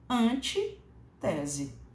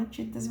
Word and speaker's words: antítese: aquilo contrário a tese antes tese né que não é pronunciada dessa forma porque a palavra antítese é uma proparoxítona e como toda proparoxítona ela é acentuada portanto antítese é como